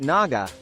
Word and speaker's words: Naga: genus name is from the Sanskrit Naga with a hard G meaning snake all true